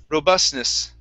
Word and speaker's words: robustness: me very well okay i do not say the t so we don't need to say robustness okay the reason why is